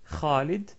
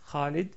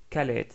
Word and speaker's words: Khalid: KH pour présenter comme dans le prénom très connu Khalid Khalid donc que tous les Français connaissent par caled calè donc comme j'ai dit